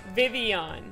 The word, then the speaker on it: Vivillon: Vivian. Like Vivian. The make a yuck sound because it's like French or something.